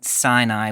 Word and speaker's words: Sinai: It's related to the name of the mountain Sinai, which in Hebrew is Sinai.